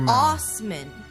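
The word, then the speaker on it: Assman: his name Chang my last name no he pronounces it Osman Osman like deer Joe Deere yeah Joe Deere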